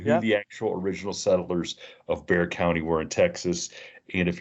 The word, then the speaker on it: Bexar: So Rod is from Bear County in Texas, but it's spelled Bexar. So if you're going to go look him up on Instagram or anything, you better look it up as Bexar, but it's Bear County.